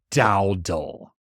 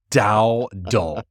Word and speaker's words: Dowdle: It's Dowdle. Dowdle.